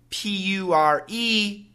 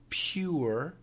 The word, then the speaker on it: pure: And finally, P-U-R-E has, again, two common pronunciations. Pure, pure, pure, and pure, pure, pure. So one of them is like a diphthong, pure, pure. It's like kind of a double syllable there, pure, pure. I like to drink pure water. Oh, the air is so pure. But I think most people just say pure.